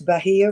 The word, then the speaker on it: Bahia: address you this morning my name is pronounced you did it correctly ma'am it's Bahia right um I am a